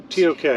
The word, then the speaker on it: Tok: Tok. T-O-K. It's T-O-K. Yeah. Tok rhymes with folk or yolk. Egg yolk. Tok.